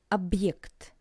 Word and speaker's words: объект: For example, in the word объект, which means object, and you can hear this little pause between ob and ekt. Объект. Ob, pause, ekt.